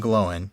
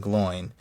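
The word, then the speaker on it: Glóin: It's Owen and Glowen, not Oin and Gloin. Um, the reason being that the oi is not a diff thong. It's not two vowels pronounced together.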